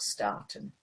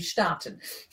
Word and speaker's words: starten: Eine Live-Übertragung auf Facebook starten. Right. Sorry, that wasn't English pronouncing. That should be starten.